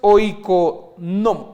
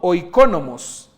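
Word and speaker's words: οἰκονόμος: original que significa mayordomo la pronunciación de esto es oico no O iconomos Perdón mi griego nuevamente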